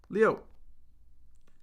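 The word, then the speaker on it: 六: Six is pronounced Leo.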